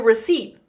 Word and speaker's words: receipt: I wrote a recipe on the back of a receipt. Yep. I wrote a recipe on the back of a receipt. Good. It's a silent P. Yeah. Receipt.